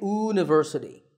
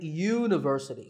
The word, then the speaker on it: university: with the letter U, the first sound of the word is not a vowel sound. We don't say university, we say university. So that first sound is a y sound, which is a consonant sound, so we say a university.